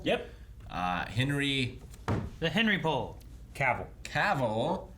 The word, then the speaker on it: Cavill: Cavill is pronounced like travel. Travel. Cavill.